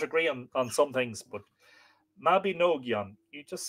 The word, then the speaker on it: Mabinogion: Oh, Nog as in bog, Mabinogion. And Yon as in the center of Yon, Mabinogion. That's very helpful.